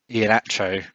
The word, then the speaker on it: Iheanacho: Um, and then finally, Kaleki Iheanacho.